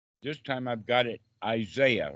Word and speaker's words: Isaiah: This time I've got it Isaiah, right?